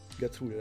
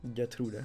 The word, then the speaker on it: Gertrude: Gertrude, that's actually the way it sounded in German. Okay, so we have Gertrude here. Gertrude, that's the German pronunciation.